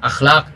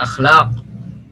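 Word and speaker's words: أخلاق: Hanya saja bedanya kalau bahasa Arab akhlak itu pakai qaf ya, akhlak, khuluq. Sedangkan di dalam bahasa Indonesia akhlak itu biasanya diucapkan dengan huruf ka, kaf.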